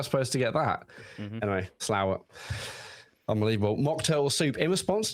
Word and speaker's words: Slaithwaite: in a place called I read it as Slaithwaite. I was like, oh yeah, and someone's like, where's Slaithwaite? And they're like, where? Show me on a map. And apparently it's pronounced Slowett.